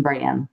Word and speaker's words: Bran: then people were like say it like raisin bran brand and then when